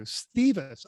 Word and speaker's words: Thiewes: uh it's pronounced this it's german at least we're pretty sure we were going with you stevis okay most people do um okay yeah yeah